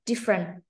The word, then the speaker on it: different: Okay, actually, it's a two syllable, huh? Different.